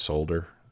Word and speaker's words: solder: that's how it's pronounced solder the L doesn't enter into it so if in your country you say it differently if you say this solder then you know what